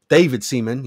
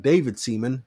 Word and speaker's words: David Seaman: David Seaman. You got to say it like that. David Seaman.